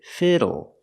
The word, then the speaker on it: fiddle: this word fiddle pronunciation use a short I sound for the i f f fiddle fiddle and the l e makes a sound o like table and bottle fiddle fiddle so what